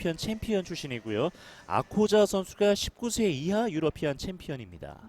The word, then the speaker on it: Akkoca: 이 아코자 선수가 그 튀르키예에서는 C가 우리나라 지읒 발음이거든요.